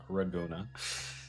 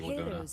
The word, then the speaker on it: Laguna: Raguna. Oh yeah, it's Japanese. They can pronounce the L's, right? Alright, tell us the ancient prophecy, Laguna.